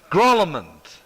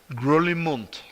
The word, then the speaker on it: Grolimund: I'll tell you how you say it in the original. It's Grolimund. Grolimund. It's not French. It is from one of the smallest countries in the world. Switzerland. Switzerland. It's Swiss.